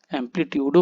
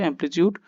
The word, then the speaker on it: amplitude: এম পি এল আই টি ইউ ডি অ্যামপ্লিচটিউডও বলে ছ উচ্চারণ করে এমপ্লিচিউড। কোন অসুবিধা নেই।